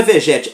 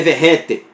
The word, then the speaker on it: Vegetti: Aí a gente descobriu que não é Vegete, é Verrete.